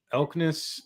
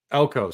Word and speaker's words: Elko: The guy, Mike Elkness, how do you say his name? The coach for Duke. Elko.